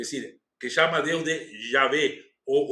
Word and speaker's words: Javé: Depois descobrimos que uma das pronúncias possíveis seria Javé ou Javé, né? Não Jeová, que é a maneira como colocaram para que não se pudesse pronunciar o nome de Deus, mas vamos falar depois.